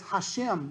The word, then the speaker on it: Hashem: doesn't pronounce the name he will pronounce it as hashem which means the name hashem okay he would when